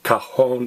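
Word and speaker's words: cajón: I'll tell you what if a noun in Spanish ends an Owen it always has an accent on the own okay always like cajas box Cajon is big box or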